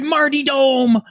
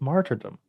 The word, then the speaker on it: martyrdom: I'm like, "It's martyrdom. There's an R in there. It's a word, martyrdom."